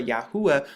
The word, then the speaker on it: Yahuah: name Ya Yahoo or Yahua because when you look at it now like this, you see the Yad Hey U, which makes the Yahoo sound, and then the A for Yahua, which is the name of our father.